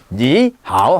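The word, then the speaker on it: 你好: 두 개 되든 제일 끝에 있는 삼성만 삼성 발음하고 앞에 있는 삼성은 몇 성으로 2성으로 하라 니하오 하지 말고 요거 이성으로 하라고 니하오 이렇게 하라고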